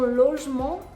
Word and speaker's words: logement: With logement, the N is part of the nasal sound en, so it's not going to be pronounced.